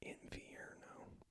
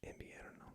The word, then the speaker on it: invierno: And then V, actually sounds more like a V, a B. So invierno. It's hard because in English you want to be like invierno, but in Spanish, invierno.